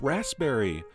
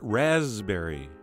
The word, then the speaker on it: raspberry: That's right, it's pronounced raspberry, not raspberry.